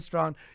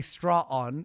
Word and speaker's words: Strawn: And you fucked up Karen Strawn. You made you keep saying her name wrong though. You say straw on, it's Strawn.